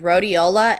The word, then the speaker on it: rhodiola: name of the adaptogen that's used is called rhodiola and I think it's spelled r h o d i o l